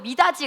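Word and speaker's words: 미닫이: 자, 그래서 미다지 같이 할 때 미다지 해도디 막 이런 거 얘기할 때 그지?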